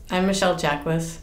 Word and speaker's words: Michele Jaquis: Well, I'm Michelle Jacquess. I usually introduce myself with my last name because nobody can pronounce it when they see it written.